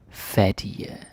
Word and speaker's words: fattige: Jeg tror, de er fattige. Very good. And yes, the G is silent in case some of you are very, very new to the Danish language.